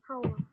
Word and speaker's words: whole: Whole.